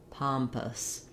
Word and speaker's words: pompous: sound and then adding your n pa palm pompous then our o u s ending is basically